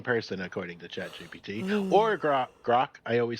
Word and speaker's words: Grok: Or Grok. I always say the name wrong. Yeah. They have no clue. Well, it's Grok.